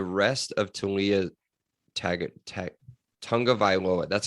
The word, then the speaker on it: Tonga Vioa: Would you take the rest of Tia Tag Tonga Vioa? That's how you say it. Bam. That's it. I listen to It's Tonga Violoa. That's what it is. Vioa. It's V Tonga Violoa.